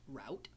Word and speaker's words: route: you say that word route route some people say root root but to me that's r o o t root right root but go with me root 66 is spelled route 66 but we call it